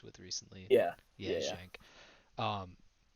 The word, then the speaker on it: Genk: Genk. I hope that's how you pronounce it. I don't want to have a moment like Hank had last week with Brug, but I'm pretty sure. I'm pretty sure it's a gang.